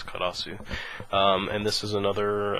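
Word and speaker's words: Karous: um karasu uh and the English here looks like karos so I don't really know how you say that well I mean in Japanese it's clear it's karasu um and this is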